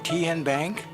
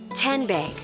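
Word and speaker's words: TNBank: How do you say the name? TN Bank? Nope. Tin Bank? Uh-uh. So what is it? 10 Bank. 10, as in Tennessee.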